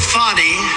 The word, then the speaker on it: Fani: He worked with Fani, even though it's spelled Fanny. F-A-N-I, Fani.